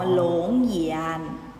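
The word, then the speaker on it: 龙眼: อะไร คะ ลำไย ลำไย ภาษา จีน ออก เสียง ว่า หลง เยียน หลง เยียน ออก เสียง ตาม หลัก ซื้อ นะ คะ หลง เหียน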